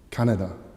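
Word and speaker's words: Kaneda: the main protagonist, Shotaro Kanedi, and he's going to try and find and bring back his childhood friend, Tetsuo Shima. Sorry, it's just pronounced Shotaro Canada and Tetsuo Shima.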